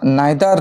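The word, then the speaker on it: neither: অথবা নাইদার নর আমরা এটাকে ইদার অর নিদার নর হিসেবে উচ্চারণ করতে পারি।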